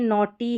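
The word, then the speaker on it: naughty: यहाँ पर देखिए नॉटी है, टी वाई को तो टी पढ़ा लेकिन जी एच साइलेंट है।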